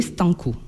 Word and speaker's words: Stanko: Il faut taper les Stanco. Voilà, c'est les Stanco, c'est S-T-A-N-K-O. Comme ça se prononce.